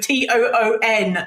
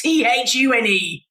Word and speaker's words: tune: You said tune with Toon, Summer. It's Chune. Tune out. Like a British person.